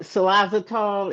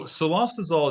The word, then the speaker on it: cilostazol: Have you known of anybody complaining about what xylazotol? Am I pronouncing that right?